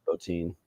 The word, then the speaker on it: Bottin: It also man, I didn't realize how much Rob is it Bottin or Botin or how do you pronounce it? Bottin.